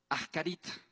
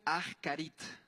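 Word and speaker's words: אחרית: Esta palabra es la palabra ascarit. Ascarit se pronuncia. Ajarit.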